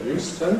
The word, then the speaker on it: Euston: station just near here, which is called Euston is more usually called than . It can be said as . You hear people say Station, but it’s a relatively unusual form.